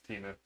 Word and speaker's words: Temu: The S is silent. They're Temu bikes. It's Timu.